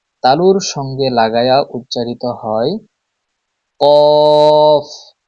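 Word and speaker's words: ك: 4 number মাখরাজ, জিহ্বার গোড়া তার বরাবর উপরে তালুর সঙ্গে লাগায়া উচ্চারিত হয় কফ। কফ। 5 নাম্বার মাখরাজ, জিহ্বার গোড়া থেকে একটু আগে বাড়িয়ে তার বরাবর উপরে তালুর সঙ্গে লাগিয়ে উচ্চারিত হয় কাফ।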